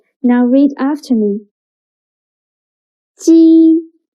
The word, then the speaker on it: 鸡: 鸡 sounds a little bit like the first sound of Jeep. But when pronouncing G. Your tongue should be more flat, and you need to stretch your mouth to both sides.